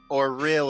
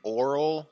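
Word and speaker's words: Auril: oh yeah for real or real is how you say it it sounds like you're saying oral like mouth oh oh real what's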